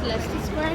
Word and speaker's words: Leicester Square: many shopping malls everything is there and it's pronounced as Leicester Square not like it foreign stores in the